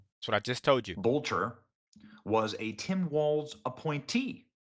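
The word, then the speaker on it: Boelter: Bolcher.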